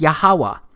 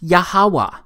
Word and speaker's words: Yahweh: simple back then that it vocalized each consonant with an ah sound without specifically marking that sound between consonants. So this YHWH, it's pronounced Yahweh.